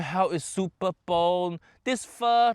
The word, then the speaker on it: pho: classic French Vietnamese dish which actually faux par it should be called fur correct it pronounce for